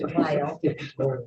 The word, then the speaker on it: Weill: It's Weill.